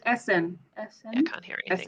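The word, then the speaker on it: Esen: Yes, it's Essen.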